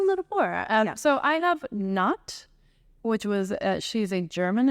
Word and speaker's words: Nut: I'm going to go I have n in new uh it sounds it looks like it says nut but it's pronounced n uh it's an Egyptian goddess of